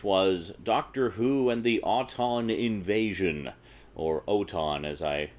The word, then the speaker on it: Auton: It's clearly Auton. They say Auton in the show.